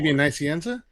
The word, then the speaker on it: Nicieza: Alfonso, you're supposed to jump in right now and pronounce it. Nicieza?